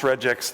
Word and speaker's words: regex: features and I pronounce regex the correct way with the soft G as in Justin potato potato all right